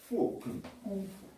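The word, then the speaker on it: 功夫: 쿵푸라고 그러죠. 근데 어떻게 쓰냐면 자기 중국 발음으로는 꽁푸예요. 꽁푸인데 대만에서 쓸 때는 어떻게 쓰냐면 KUNGFU를 쓰고 중국은 GONGFU를 써요. 발음은 똑같아요. 꽁푸.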